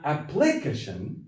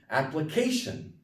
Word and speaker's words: application: to last syllable okay it's not application it's application application okay the stress is on the part right before the ion sanitation okay which is